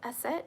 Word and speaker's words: Aset: Aset is how you pronounce her like comedic name.